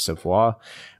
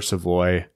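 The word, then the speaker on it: Savoie: I thought it was Savoy, but it's Carter Savoy.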